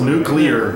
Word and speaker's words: nuclear: Nuclear. It's like the word clear.